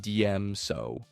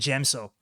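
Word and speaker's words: Djem So: Form 5, Cheyenne and DM So. Oh god, the pronunciation is so horrible. It's Shien and Gemso.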